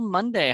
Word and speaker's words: Munday: name right right okay it's just like the day of the week over the year but